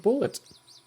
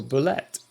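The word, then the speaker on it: bulette: They befriended a bear, convinced it to join them, and also killed a strange deformed bullet, or bullet, as D&D Beyond tells me it's pronounced.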